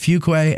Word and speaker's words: Fuqua: now say it he's he goes it's pronounced fuquay and then he goes